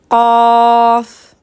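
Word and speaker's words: قاف: Vous voyez comment je la prononce? Qaf. Donc celle-ci, pour vous aider un petit peu pour la prononcer, le son va sortir en début de gorge, plus précisément au fond de la langue. La langue sera en contact avec le palais mou.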